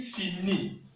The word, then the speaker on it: finit: Il finit. Le T n'est pas prononcé.